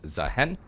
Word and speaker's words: Zaahen: All right, starting off here we have Nefuri versus Zahen. Uh yes, it is pronounced Zahen. We do have confirmation by Riot that it is Zahen.